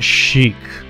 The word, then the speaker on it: chic: check all right now it's it's pronounced Sheik okay Chic and sleek and